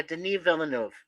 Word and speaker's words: Denis Villeneuve: Yeah, Denis Villeneuve. That's how he pronounces it. I just call him Dennis.